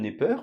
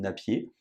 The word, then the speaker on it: Napier: petit point historique John Nepper dont je vous insère ici l'illustration qui était donc un mathématicien écossais on prononce aussi parfois John Napier il a vécu de